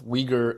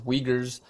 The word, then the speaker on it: Uyghur: You might have heard Uyghur being pronounced as Uyghur in the West. So in the Western media, they generally on TV and radios, they refer to us as Uyghurs, but we are actually, the correct pronunciation is Uyghur.